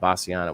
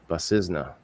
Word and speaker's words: Bassisna: I was mispronouncing it. Bassisna. For some reason, I thought Bassiana was right.